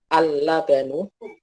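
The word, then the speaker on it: اللَّبَنُ: Di sini lamnya ada ada tasydidnya nggih, dan harokatnya fathah, sehingga dibacanya adalah al-labanu.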